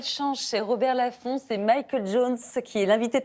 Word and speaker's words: Michael: Alors, c'est Michael parce que ça s'écrit M-I-C-H-A-E-L. Mais effectivement, ma mère n'arrivait pas à dire Michael, donc elle m'appelait Michel. Parce qu'en France, l'équivalent, c'est Michel.